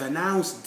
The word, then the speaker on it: announced: noise i've placed i've announced it no i've announced t like that because the sound is this you may have the